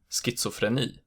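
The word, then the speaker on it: schizofren: schnitzel fresh a fish in some specific words it's pronounced as SK as in schizophren but these words are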